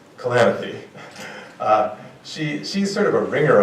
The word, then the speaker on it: Kalanithi: Lucy, her last name is pronounced Kalanithi.